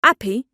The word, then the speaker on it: happy: They say gone for gone, and they don't say their H's. They say appy for happy, and Harrods for Harrods.